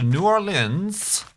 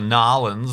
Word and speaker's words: New Orleans: In real worlds, I did a check, and walking from Chicago to New Orleans, New Orleans, or N'awlins, depending on how you you wish to pronounce it, is 911 miles.